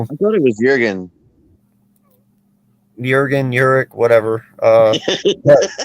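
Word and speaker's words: Jurgens: Uric could be, and by the way, it's not Jurig. The J is silent. That's why I'm saying Uric.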